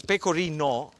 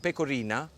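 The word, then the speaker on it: pecorino: you pronounce it because peino with an O is the cheese if you put an a at the end and you call it pecorina that means um get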